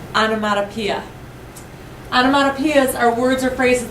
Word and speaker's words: onomatopoeia: This is pronounced onomatopoeia.